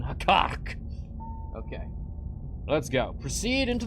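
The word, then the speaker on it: Hekkaryk: Hekkark. That's how I'm gonna pronounce it. Like it's a Star Trek villain. Hekkark.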